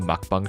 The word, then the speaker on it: mukbang: usual stuff like animated mukbang shorts which might I add yes that's the correct way to pronounce it I am in fact South Korean please stop saying like